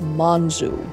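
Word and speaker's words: monzù: These chefs were known as manzu, which is the Sicilian dialect pronunciation of monsieur.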